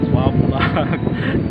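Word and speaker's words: WABAC: So during the birthday of Sherman, he actually gifted him with a Wabak time machine. I thought it was an acronym. The Wabak, it's spelled W-A-B-A-C, Wabak time machine.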